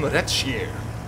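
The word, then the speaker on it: Redshire: And this time we're on Retschier, as Luke told me how to pronounce it.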